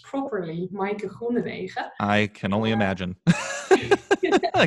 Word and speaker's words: Maaike Groenewege: And the things you actually have to do to get my own name pronounced properly, Maaike Groenewege.